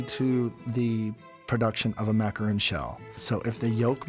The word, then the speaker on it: macaron: Everyone says it wrong. It's pronounced a French macaron.